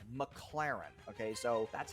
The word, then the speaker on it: McLaren: times in a row it's not McLaren it's McLaren okay so that's how